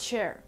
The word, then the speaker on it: chair: Donc faire bien attention à la prononciation CH pour ce mot-là, parce qu'en anglais le CH, comme vous allez le voir avec même d'autres mots à la fin de la vidéo, ça se prononce comme s'il y avait un T un petit peu au début, donc a chair, chair.